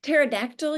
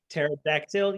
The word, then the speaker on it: pterodactyl: scene uh what okay pterodactyl yes but the p is silent pterodactyl yes but p is